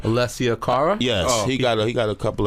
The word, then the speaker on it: Alessia Cara: She got the record, Ascaria. I'm mispronouncing her name, man, but Alessia Cara.